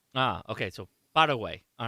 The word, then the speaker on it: Paraguay: Paraguay in Spanish. Okay, so Paraguay.